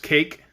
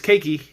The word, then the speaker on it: Cayke: cake the cookie cook i'm assuming it's pronounced cake it's spelled c-a-y-k which is an extra letter for it to be cake but i don't think it's cakey if it is cakey i will find that out and like correct myself